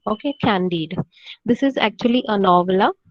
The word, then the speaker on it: Candide: opus that is his greatest work is called candide the pronunciation is candied okay candied this is actually a novella it's a voluminous